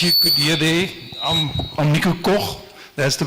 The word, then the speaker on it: Nico Koch: Yeah, as you could hear there, I'm Nico Koch. That's the pronunciation.